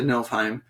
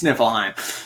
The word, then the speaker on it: Niflheim: Yes, she gets sent to Nilfheim. Nilfheim or Niflheim? Niflheim. Okay. I think it's Nilfheim. Niflheim is one of the realms. I'm not sure about Nilfheim. Well, how would you know anyway? Nifl. Oh, well, it's spelled I guess it's spelled Niflheim, but I was thinking just Niflheim. You're right, it's Niflheim.